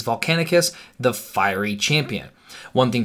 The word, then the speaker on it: Volcanicus: start with the name a lot of people are already mispronouncing it there is a second C in the end so it is volcanic Asst the firey champion one